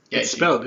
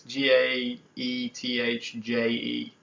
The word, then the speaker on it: Gaethje: Gaethje. It's spelled pretty weird, man. Yeah. It's like These fighters, man, I tell you. Yeah, it's Gaethje.